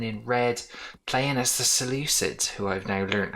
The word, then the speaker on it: Seleucids: and twelve playing in red playing as the seleucids who i've now learned how to pronounce properly you would have to say the